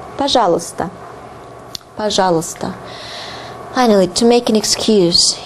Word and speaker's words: пожалуйста: Пожалуйста, пожалуйста. And pay attention to the pronunciation. It differs a lot from the way it is written. Пожалуйста, пожалуйста. You hear a more neutral sound here.